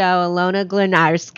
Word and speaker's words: Alayna: Next to me, I'd like to welcome to the show, Alayna. Thank you After so all much. This time, I think I did I pronounce it right?